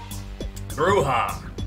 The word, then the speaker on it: bruja: That's how you say it. Bruja. Interesting. I was trying to say it with a Y sound.